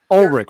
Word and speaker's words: Urich: Peter Parker Ben your how do you say it you're rich Ben Urich Urich Oh Rick right ul RI CH you're